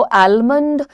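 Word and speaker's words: almond: आलमंड या तो आलमंड अब देखो मंड जो तुम कर रहे हो यहां पर तो यह ड का साउंड बहुत हार्ड ड है इसको जेंटल करना पड़ता है कभी-कभी आप ड का साउंड ही हटा दो न पे रुक जाओ और एक चीज सीखो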